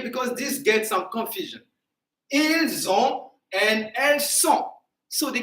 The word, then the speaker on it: ils ont: Zon. So we hear the sound Z. Z. All right, but to say they are, okay, because this gets some confusion. Ils ont and elles sont.